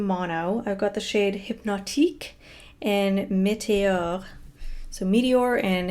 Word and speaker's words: Hypnotique: I've got the shade Hypnotique and Meteor. So Meteor and Hypnotic. Sorry, my French pronunciation is terrible. So Hypnotic is Hypnotique, actually.